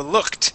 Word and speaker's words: looked: no there you go looked with a t sound yeah right looked right